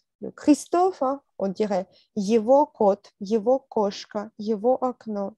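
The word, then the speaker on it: его: Yevo, yevo. Yego, Yego. C'est ça. On prononce Yeo, go yego.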